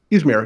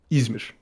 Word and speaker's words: Izmir: Yeah, that's the way I pronounce it in English because but a Turkish speaker is not going to pronounce it that way, and you shouldn't go out of your way to like try to say it. How would a Turkish speaker pronounce it? Izmir. So if you could say it that way, why not just say it that way?